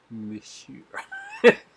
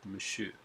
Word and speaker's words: Monsieur: Monsieur. Verdot. Don't pronounce the R at the end. It's silent. Monsieur.